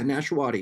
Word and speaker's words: Nashawaty: Did I pronounce it right? Yeah, Nashawaty.